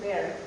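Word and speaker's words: Pearl: Y aquí nosotros vamos a ver una cosa que les voy a mandar a ver que se llama el índice de PEAR, que se escribe PARL.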